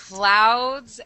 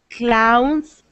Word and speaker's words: clouds: Clouds and crowds. Tana? Clouds and crowds. Let's do it one more time for me. Clowns, crowns. Okay, make sure you get the D on the end, because